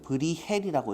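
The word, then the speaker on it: Bruegel: 브리겔은 브리헬이라고 읽어야 돼요.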